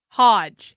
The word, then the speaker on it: Hodge: share it out and that was cool hge Hodge Hodge there we go I got there eventually thank you Hodge twins I know it took me 17 tries